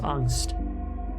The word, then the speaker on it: angst: And it's pronounced angst.